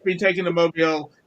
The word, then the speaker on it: Mobile: there anybody near Mobile mobile Mobile Alabama I think you said it wrong is it well whatever it's Mobile Alabama mobile anybody near Mobile Alabama